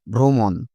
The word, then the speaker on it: ভ্রমণ: প্রথম একই রকমভাবে ভয় রফলা মূর্ধন্য ভ্রমণ লেখার সময় ভয় রফলা দিয়ে অচ্চারণের সময় দেখো ভয় রফলা ওকার ভ্রমণ একই রকমভাবে স্রষ্টা কিন্তু উচ্চারণ করার সময় স্রষ্টা ক্রম উচ্চারণ করার সময়